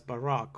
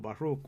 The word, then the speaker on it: Baruch: And that's the blessed that I told you, that is Barak, or Baruch, some people pronounce it.